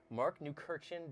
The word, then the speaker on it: Markneukirchen: Michael here again from GuitarGate, and we are at GUITCON 2018 at the famous Warwick factory in Markneukirchen, Germany. That you pronounced it right.